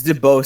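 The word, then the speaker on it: Deebo: DeBow would be in jail right now if it weren't. I actually think it's pronounced Debo. All right, Debo would be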